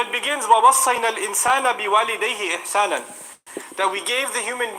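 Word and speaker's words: إحسانا: And it's mansub, the fatha on it, إِحْسَانًا, like that, it's pronounced like that, عَلَى الْإِغْرَاء.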